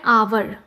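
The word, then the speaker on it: hour: एन आवर। आवर में H silent है।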